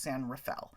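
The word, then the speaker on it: San Rafael: it's actually a district in the city of San Rafel which is in Marin County and yes that is how you say it it's spelled San Raphael but it's said it's pronounced San Rafel um I had a friend who worked for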